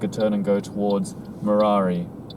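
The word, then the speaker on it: Murarrie: turn and go towards marari how you pronounce it or is it maori which is like on the other side of this road literally if he goes straight he takes you to marari road i pronounce it mirari i'm not sure if other other people pronounce it murray but it's a it's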